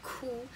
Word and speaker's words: 窟: 的，念 holy，所以那个字其实发音是哭，可是在